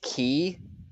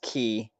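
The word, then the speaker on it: Caey: hate being that guy I love it it's key but it's it's not K it's pronounced key c-a-e-y yep all right and did you know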